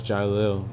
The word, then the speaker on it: Jiquelil: Jill. No, it's Jil. The queue is silent.